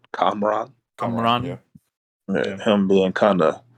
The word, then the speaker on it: Kamran: I don't want to mispronounce his name. Is it Kamran? Kamran.